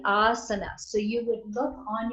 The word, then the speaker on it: asana: long a us that it isn't asana that would be a short asana would be a line over the second its asana right and so that's the Sanskrit pronunciation of asana so if some one